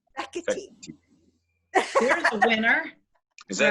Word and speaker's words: Fekete: Fekete. Fekete. There's a winner. Is that right? That like Italian? It's Hungarian. Hungarian.